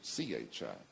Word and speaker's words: Qi: the acupuncture system and it's spelled Qi and it sounds Chi then you have the